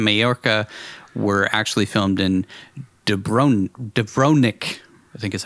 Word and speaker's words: Dubrovnik: The website TV Tropes said that scenes set in Majorca were actually filmed in Dubrovnik, I think is how you say it, Croatia,